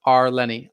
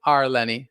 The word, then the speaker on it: Arlani: name is hard too my first name is pronounced are lenny r lenny nice to meet you are lenny and thank you so